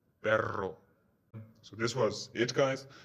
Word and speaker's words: perro: And the famous Spanish double R, double R, rolling R, perro.